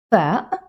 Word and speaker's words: ف: Now, as you notice, the fa is produced from the lips. It's an easy letter. It's very common in almost every language, and it's like the F in English, like find or something like that. Nothing new, same pronunciation, same everything.